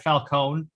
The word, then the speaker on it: Falcone: was like they had falcone that's actually the name you pronoun the way you pronounce it i'm italian that's the